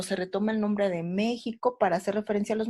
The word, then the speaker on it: México: oficial con la jota porque suena como j mexico y es más todo